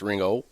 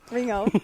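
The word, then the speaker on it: Ringgold: r-i-n-g-g-o-l-d ring gold okay but it's pronounced ringo ringo you know i was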